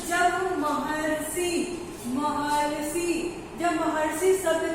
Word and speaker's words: महर्षि: तो जब हम जब महर्षि शब्द का उच्चारण करते हैं तो अरसी आता है, अरसी आता है। आप उच्चारण करके एक बार देख लो, महर्षि।